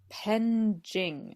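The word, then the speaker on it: penjing: Japan yeah and so it was originally called penging it's spelled p-e-n-j-i-n-g okay so uh I believe it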